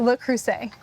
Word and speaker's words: Le Creuset: How do you pronounce that? Le Creuset.